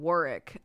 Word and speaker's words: Warwick: I've never heard it pronounced anything other than Warwick. Oh, interesting. Yeah. I can see that. Y'all love to just like take letters out and be like, those aren't in the word though.